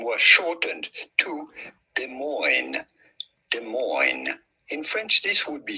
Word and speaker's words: Des Moines: Des Moines. In French this would be said Des Moines, but in American it is pronounced Des Moines. Des Moines. The S's are certainly silent.